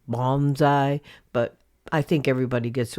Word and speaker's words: bonsai: Actually, I'm mispronouncing bonsai. It's supposed to be bonsai, but I think everybody gets what I'm talking about.